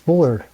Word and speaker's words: Spuhler: and how you say it it's pretty close spooler spooler there thank you so much one of